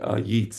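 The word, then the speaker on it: Yeats: the distorted words WB yeets I think it's pronounced um yeets he was uh he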